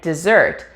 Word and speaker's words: dessert: its meaning for example the word desert and dessert have very similar spellings and pronunciation the only real difference in spoken english is the word stress and this is how